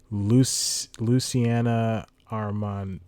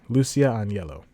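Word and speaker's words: Lucia Aniello: And I'm going to get her name wrong. Luciana Armand. Lucia Agnello. Lucia Agnello.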